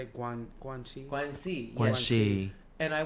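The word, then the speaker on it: 关系: Guanxi.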